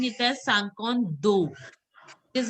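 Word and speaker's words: cinquante: It has to be Sank. In is pronounced as Sang. So it is Sankond. You were pronouncing it as Sankant. It is Sankond. Okay? Sankond.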